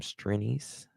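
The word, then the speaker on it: Strianse: hearing tacket's attorney uh he pronounce his last name strines okay uh tet's Attorney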